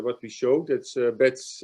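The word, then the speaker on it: Betz: we showed that's uh bets or baits uh theorem either in german it's baits not baits serum and so our initial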